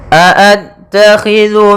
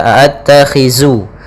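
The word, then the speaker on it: أَأَتَّخِذُ: Pada bacaan a'attakhidhu min dunih, hati-hati dalam pelafalan zal, jangan sampai terbaca dengan huruf zai, jangan dibaca a'attakhizu tapi dia zu.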